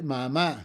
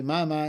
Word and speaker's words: mamá: Mother, mamá. We don't say mamá in Spanish, we say mamá, so we have to put a written accent.